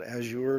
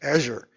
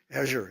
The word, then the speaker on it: Azure: engines Microsoft has a has a something called Azure now right it's young to have to use the French pronunciation or the the the Redmond Washington it's Azure Azure is how we say it in Washington not